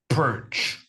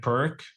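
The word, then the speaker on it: Pirc: opponent plays the perch I think it's pronounced p i r c I've always pronounced it like perk yeah me too but the thing is the guy was from the bulans or something so the C actually has some thingies on it and that means it's supposed to be pronounced differently okay Andrea's thinking a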